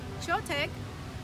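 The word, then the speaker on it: Choetech: I'm gonna spell it out for you, and I'll make sure to include the link below. C-H-O-E-T-E-C-H, Chotech.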